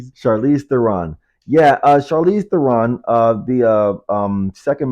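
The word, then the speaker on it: Charlize Theron: Charize Theon. Chariss. I pronounced her first name. So, Charize. Chariss Theon. Yeah. Uh, Charize Theron.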